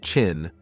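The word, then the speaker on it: Qin: replaced by the byd chin pronounced chin plug-in hybrid which was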